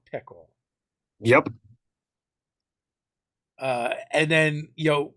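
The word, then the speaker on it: PICEL: the organization was what pickles paranormal investigations um something in logistics paranormal investigative criminal enforcement and location so it's spelled p-i-c-e-l pickle uh and like though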